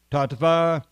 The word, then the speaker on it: Tattva: Tattva. Or we can pronounce it as a V, I suppose. Tattva.